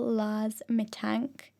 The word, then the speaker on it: Lars Mittank: I will say now, if you're listening to this podcast and you can, go Google Laz Mitank. His name is spelled Larsmittank.